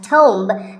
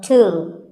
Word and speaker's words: tomb: It's often wrongly pronounced as tomb, but the B is silent and the O is pronounced with an oo sound. So, tomb.